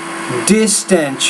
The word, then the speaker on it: distance: No, distance. You're not pronouncing that medial S in that word.